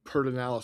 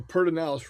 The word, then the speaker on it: Pedernales: Like I said, it's the Pedernales River, but it's spelled Predenales. So it should be Predenalis, but it's not.